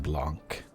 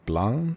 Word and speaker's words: blanc: L'arbre rouge et blanc. Don't pronounce the C in so blanc.